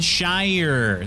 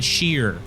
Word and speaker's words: Shire: me anything okay steph they lived in the shire they didn't live in the sheer okay frodo sam they're